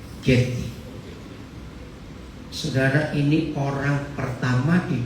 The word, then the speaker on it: Getty: Siapa pernah tahu museumnya, bacanya Getty atau Jetty di Los Angeles? Getty.